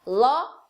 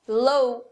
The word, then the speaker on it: law: Então muita gente vai falar law como low, por causa da escrita. Só que no inglês tem essa regra que palavras com AW vão ter o som de O de avó, o mesmo O que a gente tem em português.